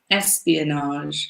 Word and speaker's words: espionage: word I think so careful with the pronunciation we've got the accent on the first syllable espionage and then we're finishing it with a French not nice name did